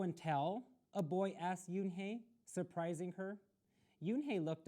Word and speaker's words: Unhei: new here what's your name a girl asked yoon hey said yunhei une the girl asked scrunching up